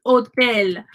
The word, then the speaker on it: hotel: The letter H has absolutely no sound in Spanish. ¿Cuánto cuesta ir al hotel?